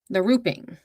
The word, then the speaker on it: larruping: Okay, so the last US word is lar- I should have looked up how to pronounce these. Larruping? Larruping. So, it's l a r r u p i n g.